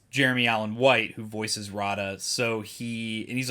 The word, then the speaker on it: Rotta: I've been calling him Roda the Hutt my entire life and then they've only exclusively pronounced his name as Rada in the movie. So, I have to break that. I have to break that habit of calling him Roda the Hutt. He's Rada the Hutt.